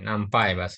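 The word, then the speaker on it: NumPy: itu ada Pandas kemudian Nampi apa nampai ini nampai bacanya Ya nampai kemudian ee kalender ini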